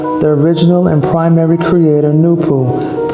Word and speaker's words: Noopooh: this circle symbolizes the original and primary creator new pool pronounced new pool and the six in the bottom half emblem